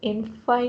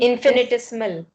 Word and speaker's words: infinitesimal: How do you pronounce it? Infinitesimal. Infinitesimal.